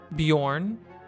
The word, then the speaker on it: Bjorn: Pronounce the J as a Y. So we had Bjorn, okay.